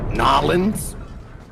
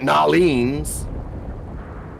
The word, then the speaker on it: New Orleans: answers none of them sound like New Orleans all right you're gonna get nylons you're gonna get you're gonna get noleans you're gonna get New Orleans all of these are correct by the way pronunciations because you're not gonna get to tell that you don't tell you can't tell a Cajun how to pronounce where they're from you